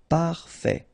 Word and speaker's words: parfait: Parfait. Final T not pronounced. Parfait.